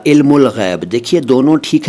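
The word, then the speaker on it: علم الغیب: से बना है तो अरबी की ग्रामर के रूल ही चलने चाहिए इसलिए तो इल्म उल गैब ठीक है वैसे फारसी अंदाज में इसे इल्म गैब भी कह दिया जाता है तो इल्म उल गैब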